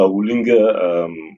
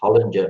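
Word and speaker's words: Holinger: Like with Brandon's Triple S, Patrick is running a Hoolinger sequential box. Can I just come in there, please, Clint? Yeah. It's Hollinger, mate. Hollinger.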